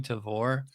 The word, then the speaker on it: Tavour: I always pronounce it Tavor, but it probably is because like I think it would be like rhyme with flavor, so it probably is Tavor.